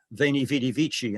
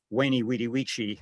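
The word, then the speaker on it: veni vidi vici: battle of zella uh would be pronounced veni vitivici in in one school but wayney weediwichi in another you can imagine you can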